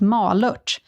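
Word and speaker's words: Malört: here we go hey guys malort is actually pronounced ma luch and is commonly used in liquor because it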